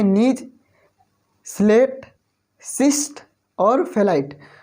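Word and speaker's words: gneiss: तो foliated rock के example हो गए नीज, स्लेट, सिस्ट, फेलाइट। यहाँ पे जो GNIESS है और यहाँ पे जो G है कैपिटल, यहाँ पे जो G लिखा गया है वो जो है साइलेंट है, GNIESS।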